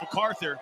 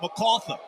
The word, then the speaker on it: MacArthur: Well, they don't pronounce it MacArthur. They pronounce it MacArthur.